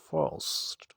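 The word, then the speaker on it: first: তো এটার উচ্চারণ হচ্ছে ফার্স্ট, ফার্স্ট, ফার্স্ট। আরটা একটু একটু আসবে কি আসবে না জানি না, বাট আনার চেষ্টা করতে হবে, সেখানে একটু রাখার চেষ্টা করতে হবে মনে মনে, ব্রেনের মাঝে। ফার্স্ট।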